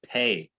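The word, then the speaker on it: פ: a doggish right yeah if it has the dot it's p like people and that's how i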